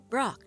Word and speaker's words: Brok: It's Pork, of course. No, it isn't. Brok, Chief.